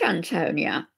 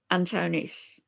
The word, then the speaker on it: Antonis: Is it Antonia or Antonis? Am I saying it wrong? Ooh, Jem Jem. Thank you. Antonis. Hi, hello. Right, thank you. I got it right now.